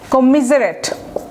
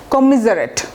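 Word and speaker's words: commiserate: কন্ডোল, কমিজারেট, উচ্চারণটা দেখেন কমিজারেট, double M হবে।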